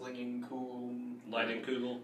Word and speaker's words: Leinenkugel: The other shandy I really like is that, I think it's pronounced Leinenkugel.